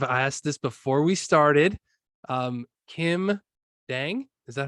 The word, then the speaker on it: Kim Dang: Kim Dang, is that how I say Yes.